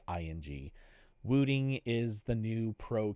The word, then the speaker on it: Wooting: So yeah, pros are jumping on keyboards like Wooting makes one. I'm overpronouncing it, but just so it sounds right, it's Wooting.